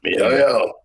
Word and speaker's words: miHoYo: I hope I'm saying it right, MiHoYo. You are. I mean, if you're Yeah. not, none of us are gonna correct you. So MiHoYo.